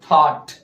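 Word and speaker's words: thought: silent कर लीजिए या यू जी हा को साइलेंट कर लीजिए क्या होगा थॉट थॉट विचार सोच है ना इस तरह से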